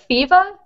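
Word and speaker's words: Pheeva: do you spell it it's uh feva p h e e v a yeah i never would have guessed that kristoff atlas i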